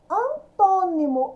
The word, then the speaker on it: antônimo: Antônimo, antônimo também tem um acento aqui no tom. Então, é a antepenúltima sílaba. Ela é proparoxítona, número 3.